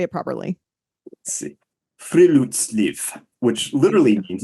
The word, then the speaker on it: friluftsliv: Friluftsliv, which Thank literally you.